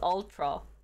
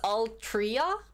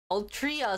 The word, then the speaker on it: Altria: ultra all draw ultiro i don't think this is ultra i think this is all trio have i been pronouncing this wrong so it's all tria altria sells marlborough in the